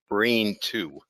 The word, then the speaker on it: BRN2: receptor normally suppresses it's spelled brn2 and it's pronounced brain two they developed a brain two inhibitor that plugs